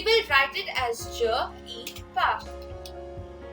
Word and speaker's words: y: it is inanimated uh which is pronounced as e in french uh placing same as